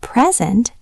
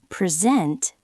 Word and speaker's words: present: If you stress the first syllable, present, it's a noun. It means a gift. But if you stress the second syllable, present, it's a verb. It means to show something.